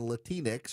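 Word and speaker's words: Latinx: It's that you people decided to rewrite the English language in unnatural ways and then embrace the talking points and Latinex, which rhymes with Kleenex, that no person in the Hispanic community actually says.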